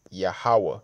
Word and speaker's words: Yahawah: the W and the ha connect so it's pronounced yahawah which means he is okay he exists he's